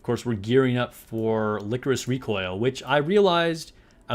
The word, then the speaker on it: Lycoris: Obviously, I'd never even heard of it before, but I thought it was like Lycoris. It's licorice, or at least that's how they pronounce it in the show, which apparently is a type of flower.